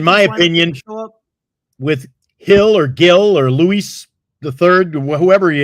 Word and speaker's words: Gil: it's pronounced Hill G I think it's Hill right I never heard him called hill before they have a hill but not a they don't have two Hills there's a hill and a hill Luis Hill it's I think it they pronounce it Hill okay everybody says Patrick